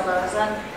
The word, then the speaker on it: Loza: My name is Loza. My parents were German immigrants, so that's why I have the name that looks like Luz, that's pronounced Loza.